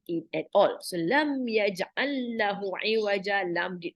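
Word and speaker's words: يجعل: That is, yaj'alu is not pronounced, but this only pronounced as yaj'al.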